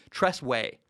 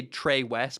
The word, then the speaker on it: Tress Way: By the way, side note, the punter for Washington, can't even say his name, Tress Way. I always want to say Trey West, but it's Tress Way.